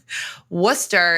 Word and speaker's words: Worcester: but for people that are not from Massachusetts wer is spelled w r c s r it looks